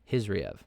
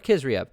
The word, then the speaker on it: Khizriev: Khizriev. Or Khizriev. I've heard it pronounced both. I've heard these Dagestani style names pronounced multiple ways, both with the K or with just emphasizing the H.